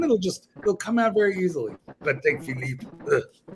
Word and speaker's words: Patek Philippe: the trick, which is when speaking French, you must twist your face into the most arrogant, hateful position, and then it will flow. Vacheron et Constantin, Patek Philippe, Aldimar Piguet, and you say it like you're cursing at a homeless bum on the street. That's how that works.